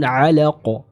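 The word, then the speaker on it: علق: ketemu sama qalqalah kubra, maka sempurnakan pantulan ataupun sifat qalqalah yang dimiliki oleh huruf qaf yang berada di akhir ayat kedua ini. Dia dihukumi sebagai qalqalah kubra dan dipantulkan dengan jelas atau kuat, ya.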